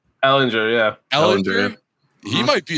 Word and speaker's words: Ehlinger: But my main takeaway, might mispronounce this last name, Sam Ehlinger? Ehlinger, yeah.